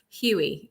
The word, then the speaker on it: Huye: now don't y'all get it wrong it's huey that's right h-e-y i didn't put my last name on there but huey that's right see me going on my can't